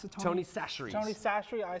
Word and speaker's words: Chachere's: I used, how do you pronounce it, Tony Chachere's. Tony Chachere's. I say Cacciatore's, but I know I'll probably get tar and feathered if someone heard me say that.